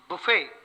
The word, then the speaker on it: buffet: But the same word, buffet, if the T is pronounced, it is used as a verb, which means to knock about or slap and batter and punch.